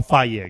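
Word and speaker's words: Fage: I'm a Faye guy, which I just learned how to say it.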